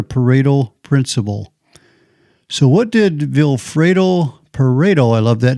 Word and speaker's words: Vilfredo Pareto: economist, and his name, I love the name, it rhymes, Vilfredo Pareto, easy to remember.